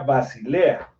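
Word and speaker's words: βασιλεία: levantar reino contra reino la palabra reino viene del griego 932 más o menos se pronuncia basilea y aparte de Reino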